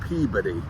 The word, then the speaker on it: Peabody: The correct pronunciation is Peabody.